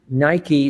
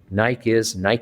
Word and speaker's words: Nike: Nike is pronounced about 5 different ways around the world.